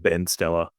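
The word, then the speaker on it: Been Stellar: I was listening a lot to a band out in New York called Bean Stella, or like it's pronounced Ben Stella to Americans, I think.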